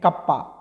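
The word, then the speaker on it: κ: Specific conductance, जिसको हम लोग K से नोट करते हैं और प्रोनाउंस करते हैं कप्पा। इसको क्या बोलते हैं हम लोग? इसको बोलते हैं कप्पा बोलते हैं। ओके, प्रोनाउंस क्या करेंगे? कप्पा बोलेंगे इसको, ठीक है।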